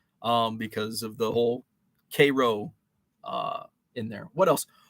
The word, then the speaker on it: Cairo: called little egypt um because of the whole k-row uh in there what else orion orion illinois is spelled is spelled the same as orion myelin